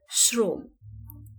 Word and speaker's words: শ্রম: র ফালা থাকে অর্থাৎ আদ্য অ এর পরে যদি র ফালা থাকে তাহলে সেই অ এর উচ্চারণ ও এর মত হবে যেমন এখানে আছে শ্রম তালব্য স অ এখানে